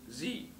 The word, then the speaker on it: Xe: changed its name to a word that is spelled XE, which is pronounced Z.